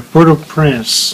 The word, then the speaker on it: Port-au-Prince: How they pronounce Port-au-Prince or? Port-au-Prince.